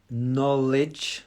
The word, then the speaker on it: knowledge: do you pronounce knowledge it's a silent k knowledge so it's like an